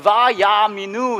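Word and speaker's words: וַיַּאֲמִינוּ: 생긴 말이에요 예쁘게 생겼죠 이렇게 읽어요 바야 민우 라고 읽어요 이게 어떤 말인지 아세요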